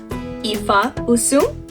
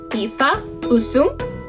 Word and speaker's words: Ifa usum: In Chuukese, this is translated into Ifa usum. Let's spell that out. Ifa, I-F-A, usum, U-S-U-M, followed by a question mark, because we are asking a question. Again, the phrase is Ifa usum.